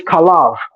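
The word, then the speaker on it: חָלָב: Because in Hebrew, fat is kalev and milk is kalav. Only difference is vowel shifting and pronunciation.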